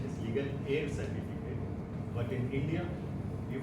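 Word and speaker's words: legal heir: dose Masters and guest legal a certificate first of all here h e i r in which the H alphabet H is silent so the correct pronunciation is legal a certificate but in India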